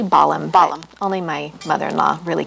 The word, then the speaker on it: Bollum: here today with bellum am i pronouncing your last name correctly it's actually balham bottom only my mother-in-law